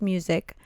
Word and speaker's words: Muzik: His name was Bruce Music. And he talked about these ACE markers. That's a cool name. Yeah. You know, it's funny. It's spelled Muzik, but it's still pronounced music.